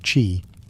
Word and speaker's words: qi: At the heart of acupuncture is the concept of qi, pronounced qi, the life force or energy that flows through the body along invisible channels called meridians.